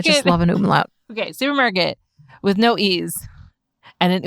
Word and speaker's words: SÜPRMARKT: Olympia Auset is the founder of SÜPRMARKT, which is spelled SUPRMARKT, basically no vowels. A low-cost organic grocery. There are two vowels in there. Oh my God. Okay. Well, I said basically no vowels. It's missing the E's, okay?